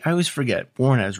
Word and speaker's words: Warnes: All right, we're back with Nick Warnes. Am I saying that right? I always forget. Warnes, right? Yeah, you're getting it. Warnes.